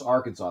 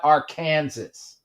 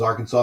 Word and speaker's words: Arkansas: brother frozen arkansas and i do know how to pronounce arkansas it's not it's not our kansas oh my god and